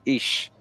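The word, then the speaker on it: Ix: Mayan was white and who was called eeks pronounced ish and Sak meaning white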